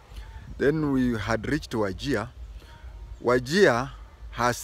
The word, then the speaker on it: Wajir: We down Kenya people call it Wajir, J-I-A. But Wazungu wrote it Wajir. So you'll find a lot of writing, they write Wajir, but pronounce as Wajir.